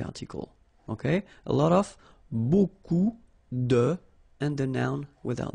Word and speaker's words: beaucoup: Beaucoup, like that. Remember, you don't pronounce the final P, okay? And then you get this combination of vowels, E, A, U, and you get the sound O.